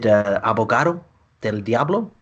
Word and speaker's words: Abogado del Diablo: Is it Abogado del Diablo? I believe you are pronouncing that correctly.